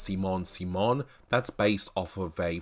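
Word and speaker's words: Simone Simon: reference here the Simon Simon Legree has this pronounced Simon Simon that's based off of a French actress named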